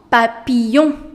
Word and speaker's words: papillon: That's un papillon. Un papillon. Whenever ILL comes together, you do not pronounce double L. So it becomes un papillon. Do not pronounce it as un papillon. No. Un papillon.